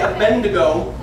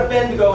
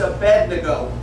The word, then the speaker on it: Abednego: See, now a lot of people say Abednego, but it's not Abednego, it's Abednego. How? So, like to bed we go. Abednego. Shadrach, Meshach, and Abednego.